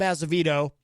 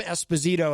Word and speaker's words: Azevedo: immediately following this program is Granite State of Mind, hosted by the great Rob Azevedo, or Rob Esposito, as I think Stacie Laughton pronounced it when she called, and somebody in the chat room caught that too.